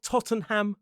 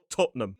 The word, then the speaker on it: Tottenham: It looks like Tottenham, but the pronunciation quite commonly is two syllables. Stress on the first. Tottenham.